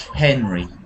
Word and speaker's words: Henry: And when you say Henry, can you give him a nice eggy sound, like air, like Henry?